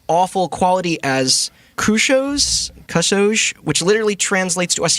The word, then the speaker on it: kusoge: online labeling it's awful quality as crew shows kusoge which literally translates to us here as shitty